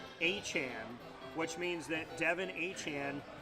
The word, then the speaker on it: Etienne: His last name, Etienne, is supposed to be pronounced Achan, which means that Devin Achan and Travis Achan